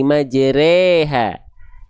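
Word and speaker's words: مَجْرٰىهَا: Ya, dalam riwayat kita yang dibaca dengan vokal cuma satu tempat ya pada kalimat waqarkabu fiha bismillahi majreha ya itu baru e.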